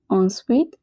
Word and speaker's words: ensuite: Ensuite means next. En, remember, is pronounced as en. Ui is always pronounced as oui.